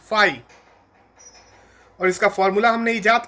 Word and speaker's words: फाई: तो electric flux जो physical quantity है उसे हम इस सिंबल से डिनोट करते हैं जिसे हम फाई प्रोनाउंस करते हैं। फाई और इसका फार्मूला हमने इजाद कर ही लिया है।